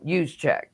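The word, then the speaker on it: Juszczyk: But think about um Yuseek from the 49ers. Isn't that how you pronounce his name?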